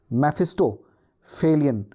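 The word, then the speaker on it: Mephistophelian: तो मेफिस्टोफेलियन का क्या है, मेफिस्टोफेलियन, इसको प्रोनाउंस कैसे करना है, मेफिस्टोफेलियन, इसका मतलब होता है a kind of devil, okay.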